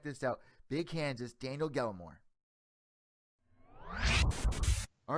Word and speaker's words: Gallemore: That's actually pronounced Gallemore, by the way. Gallemore.